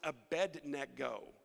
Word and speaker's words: Abednego: many of you knew that the name is pronounced a bed neck go how many of you knew that i just